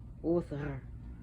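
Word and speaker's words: Óðr: Freya's husband was Other, O-D-R, but pronounced Other.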